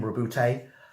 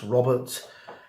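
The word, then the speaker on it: Roboute: It's telling you what happened when Rabute, and I've been advised that is how you pronounce his name, Rabute. For years it was Robert. GW on some of their recordings have pronounced it Rabute, and therefore it's Rabute now.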